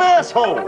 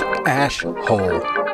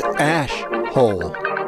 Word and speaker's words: Ash Hole: Pardon my French, but you're an asshole. It's pronounced AshHole. You dumb asshole. Excuse me? It's AshHole.